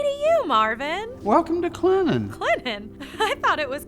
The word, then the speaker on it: Clinton: hey y'all hey to you marvin welcome to clennan clinton i thought it was clinton well there is a t in it but